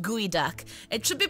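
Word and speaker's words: geoduck: weird pronunciation like guy it should be called geod duck but it's pronounced guoy duck it should be pronounced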